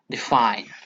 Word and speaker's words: define: of two syllables okay the first syllable is unstressed and the second syllable is stressed for example we can